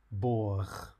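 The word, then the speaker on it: бог: Finally, there are just a couple of instances where the Russian g is pronounced like kh. This occurs in two adjectives and then in the pronunciation of the Russian for God.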